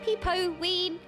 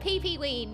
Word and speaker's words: Peepo Ween: This is Peepo Ween. This is Peepo Ween. This is Peepo Ween. It's not Pee-Pee Ween. No, it's not Pee-Pee Ween. No, no. Peepo Ween.